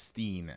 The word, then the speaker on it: Steen: It's pronounced Steen at the end of it. Okay. Yeah. Steen. Like the Berenstain Bears.